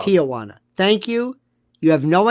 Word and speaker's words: Tijuana: You were the only person I've ever spoken to in my entire life, an American, who pronounced Tijuana correctly, not Tijuana.